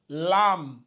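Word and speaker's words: لام: va se lire ici lâ le lâ lâ bon souvent j'aime moi j'aime rajouter un deuxième a pour que pour montrer aux gens qu'il faut bien ouvrir la bouche c'est surtout ça c'est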